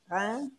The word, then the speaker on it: Reims: How do you say it again? Reims. Almost like an engine. You like... Reims. Like that.